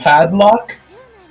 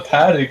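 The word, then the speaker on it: paddock: Predictions are The padlock. That's what she said. Did I say it wrong? That it's the paddic, man. The padlock is like used to lock.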